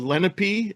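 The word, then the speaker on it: Lenape: We think it was the Lape or the Lenipe, as it's pronounced in this state.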